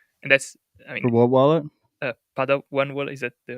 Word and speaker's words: Padawan: Padawan wallet, is that the right pronunciation?